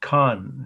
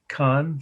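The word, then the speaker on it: Caen: city in france but it's it's khan it's how you say it actually c-a-e-n con c-a-e-n uh so you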